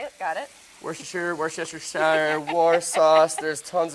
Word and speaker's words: Worcestershire: going to add just a couple splashes of Worcestershire sauce okay that's how you say it got it Worcestershire Worcestershire War sauce there's tons of ways to